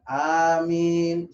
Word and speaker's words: Amin: Nah, inilah cara yang benar untuk mengucapkan "Amin." Amin. Seperti itu. Namun jika seseorang mengucapkan "Amin," silakan saja. Amin.